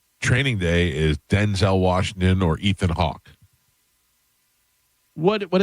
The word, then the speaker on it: Denzel: is Denzel Washington or Ethan Hawke.